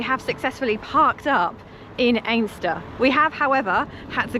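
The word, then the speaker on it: Anstruther: So, we were heading to a place with a difficult pronunciation. Strangely, it looks like it's Anuther, but we met someone today who said it's actually pronounced Aster.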